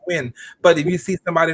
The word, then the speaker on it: Nguyen: You see Nguyen and you know that that's pronounced Win.